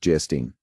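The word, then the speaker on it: Geierstein: An of Gastine pronounced gestine or the maiden of the mist by the author of Waverly.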